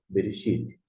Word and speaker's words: Bereshit: B com E, B. R com E, RE. Aqui no caso é mudo, aqui é mudo, e aqui você tem o X, Ti, Shit, Bereshit.